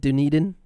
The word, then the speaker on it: Dunedin: no and and i i think you pronounce it dunedin didn't eat in florida it's absolutely phenomenal